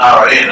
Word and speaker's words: Ran: the Royal Australian Navy, but it's pronounced Ran, and it's a Swedish word.